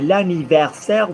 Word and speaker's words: anniversaire: So Stephanie, hier, c'était l'anniversaire de ma grand-mère. Versaire rhymes with grand-mère. Versaire de ma grand-mère.